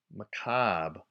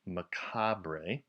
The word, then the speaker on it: macabre: made less than pure mccobb is our next word it also can be pronounced macabre so you'll see it both ways I like McCobb but if you do say macabre you're not wrong I got a picture